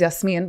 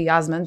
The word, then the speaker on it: Yasmin: So like for me, not gonna lie, sometimes in Starbucks, like, so my name is Yasmin, but sometimes I say Yasmin just for the ease of it.